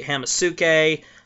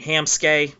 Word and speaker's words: Hamsuke: I like Castanet Donkey, but the problem with my Great Nature build is I play Hamasuke. I mean Hamsuke, not Hamasuke. God, I've mispronounced it.